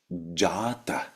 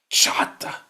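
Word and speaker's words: जात: They look at this, they see the word jata, for instance. Jata. Jata means born. Ajata means not born. And then they go achata, chata.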